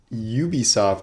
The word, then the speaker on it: Ubisoft: reaction video to the ubisoft show as i've heard it's pronounced now which is why they say a ubisoft original instead of an ubisoft original uh that confused my